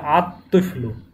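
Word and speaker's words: الطفل: তুইফলুন, আলিফ লাম যুক্ত হলো আর তুইফলুন, তাহলে আত তুইফলু, আত তুইফলু, লাম উচ্চারণে আসবে না, কারণ ত হচ্ছে এই 13টি হরফের মধ্যে।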